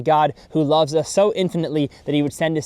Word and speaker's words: NFNT: And the name NFNT, or Infinite as it's pronounced, has 2 main meanings.